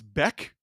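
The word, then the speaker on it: Bäck: It's Beck. He spells it back, though.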